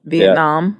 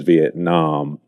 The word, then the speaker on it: Vietnam: I found is that most people in America say it with the ah sound. So that is the most prevalent pronunciation is Vietnam, but some people say Vietnam.